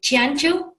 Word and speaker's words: Ciancio: Ciancio?